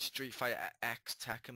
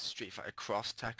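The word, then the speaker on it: Street Fighter X Tekken: and i do realize it's not pronounced street fighter x attacking by the way it's street fighter cross attack and i like to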